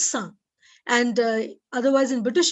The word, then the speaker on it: sans: word it means without in french the word is pronounced as sun and uh otherwise in british english or american english you can say sans so sans teeth sand